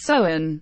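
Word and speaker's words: Samhain: with the ancient Celtic festivals sound pronounced soin celebrated at the end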